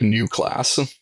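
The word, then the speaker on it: Neue Klasse: German I think it I think it's roughly pronounced like new class new class okay yeah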